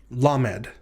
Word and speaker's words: lamed: bet which is the letter lamed lamed the lamed is pronounced like the letter l in the english word lion and it's transliterated using